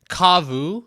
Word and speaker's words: KAVU: It's pronounced Kavu, like Yahoo.